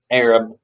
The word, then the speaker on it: Arab: That's spelled Arab, pronounced Arab, in Alabama, and a place at the foot of the mountain in Guntersville called Dog Holler.